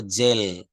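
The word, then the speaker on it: jail: জেড এ আই এল এটা জেল বলি জে এ আই এল জেইল কিন্তু এটা জেইল না এটা হবে জেল জেল জেল দেখেন একটা এার এসে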